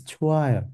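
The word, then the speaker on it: 좋아요: The H doesn't, it's never pronounced. Never. It becomes silent. Nobody says chuayo. It's chuayo.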